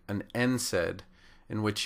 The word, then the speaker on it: NSAID: unlike something like an NSAID in which you say the letter N and then pronounce the word said these are initialisms and